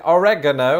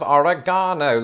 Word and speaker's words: oregano: Today's big question, why do Americans pronounce it oregano instead of oregano like the British?